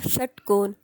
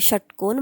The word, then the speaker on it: षटकोन: यांचा स्पर्श होतो यथा षटकोन इती शब्दे अतः अह मूर्धन्य म्हणजे जर तुम्ही षटकोन म्हणालात तर तुम्हाला लक्षात येईल की जिभेचा जिभेचा टच जो आहे तो मूर्धन्याला होतो त्यामुळे इथे श च